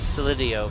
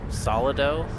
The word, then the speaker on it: Solido: I like Solidio, but it doesn't have an I in it to allow the fortuitous use of the sound. So Solidio is technically incorrect, but Solido doesn't have the second I.